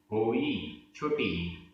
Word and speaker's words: होई: होई, होई जोई होई, दोनों में अंतर है उच्चारण में। जोई बड़ी ई, होई छोटी ई, जोई होई।